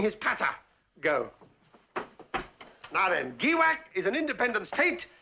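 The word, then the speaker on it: Giwak: is gak a small but oily State I'll spell that word for you gwak g i w a k and I've got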